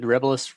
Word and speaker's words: Rebilas: you may have got the first legitimate pronunciation of Mark's last name. Oh yeah, Mark did say, right? Yeah, he did. He did. He did say his last name. Yep. He said Rebelis Rebelis photo.